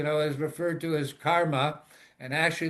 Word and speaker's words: karman: is referred to as karma and actually the correct pronunciation is karman with an n attached to it.